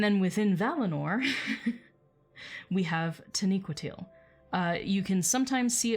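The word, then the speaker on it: Taniquetil: it should be pronounced tani quito to neuqua to uh with knee being the emphasis um but you will often hear me say tanakwitil um where i put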